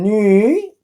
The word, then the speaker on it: 女: Then become 女, third tone.